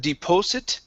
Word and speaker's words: deposit: Instead of deposit with an O sound, it's an ah.